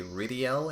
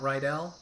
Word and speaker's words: Rydell: Also, his name is likely more it's more likely Ridiel and not Rydell. The Asian versions of this game, which were still translated into English, translate his name into Rydiell, I think, and the voice actor, even pronounces it Ridiel, too.